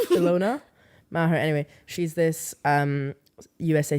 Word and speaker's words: Ilona: And I was going to say her name wrong, but like Aloha Maher. Is it Aloha? Not Aloha. Ilona Maher.